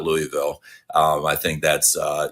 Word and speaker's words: Louisville: Carolina Florida uh and people know that it's Louisville not Louisville um I think that's